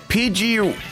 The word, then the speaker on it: Pidgey: Pidgey rhymes with fridge.